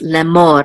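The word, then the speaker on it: לֵאמֹר: word should be so this is l'amour the accent is on Mon on the last syllable and this is the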